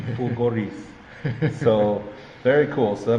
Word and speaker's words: Fulgoris: Fulgoris. Fulgoris. Yeah. Got to roll the R. Fulgoris.